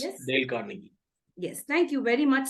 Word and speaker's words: Dale Carnegie: Sir, could you just give us the right pronunciation of that Dale associate? Carnegie. It's yes? Dale Carnegie.